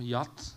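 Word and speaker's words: giat: Taki jeszcze krótki komentarz do tego, bo po retoromańsku kot, standardowe słowo to jat, albo w zależności gdzie to jest wymawiane, jat, a jat, no to już jest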